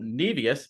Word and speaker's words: Nevius: And I am so pleased to have Michael Nevius.